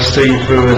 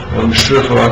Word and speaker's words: shifu: And it was like you'd have to call the guy see-through, and you know, see-through, shifu, okay, or see-through. It doesn't matter how you say it. Different pronunciations. It means master in Chinese.